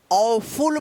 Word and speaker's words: awful: ठीक है, चलिए अब देखिए यहाँ पे AWFUL, अब इसको क्या पढ़ेंगे, ऑफुल पढ़ेंगे, ऑफुल।